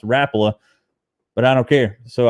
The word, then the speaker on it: Rapala: which makes sense but he says it's actually pronounced rapula but i don't care